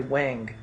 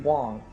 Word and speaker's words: Wang: We mentioned him already, Wang. Even though you're not supposed to pronounce his name that way, it's supposed to be Wong.